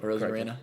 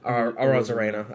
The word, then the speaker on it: Arozarena: Arozarena? Arozarena. I guess it is phonetic.